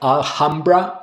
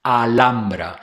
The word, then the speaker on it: Alhambra: In Spanish, the letter H is silent. You don't pronounce it at all. So, while in English, it's common to hear versions like alhamra or even halra.